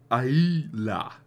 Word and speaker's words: Islay: Today, the four onion-shaped stills at Lagavulin are neatly tucked into a whitewashed jumble of buildings by the sea on Islas, pronounced Aila.